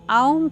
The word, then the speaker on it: ओम: मकार नाद और बिंदु इसका उच्चारण आऊं करते हैं आपने देखा होगा ओम